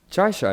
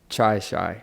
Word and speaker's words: Chaii Shyy: on this podcast again try shy right it's not your say it correctly try shy so my name is